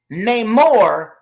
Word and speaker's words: Namor: Namor. Now it's Namor because it's supposed to be Namor. Okay, there's a difference.